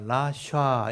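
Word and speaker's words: רשע: 좀 보면 훨씬 쉬워요 리얼 발음에 애가 있고 시옷 발음에 아가 있으니까 라샤 이렇게 되거든요 라샤라고 발음하는데 이게 사악한 사람 악한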